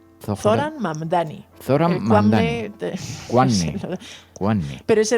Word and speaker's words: Mamdani: Y hay un gran favorito, este candidato, Zoran Mandani, hasta que yo aprenda a pronunciar correctamente esto, porque es Zoran Mamdani.